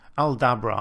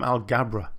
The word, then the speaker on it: Aldabra: Is it Aldabra or Algabra? I get it wrong. It's Aldabra. I think I called them Algabra tortoises in the time lapse. I apologize. They are Aldabra tortoises.